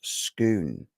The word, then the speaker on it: Scone: Yeah, the stone of scone is pronounced scoon.